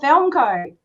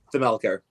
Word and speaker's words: Thelmelco: Is it Thelmelco or Thelmco? Just Thelmelco.